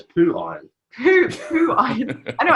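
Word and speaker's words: Phiron: if you would like it pronounces as poo iron poo poo iron I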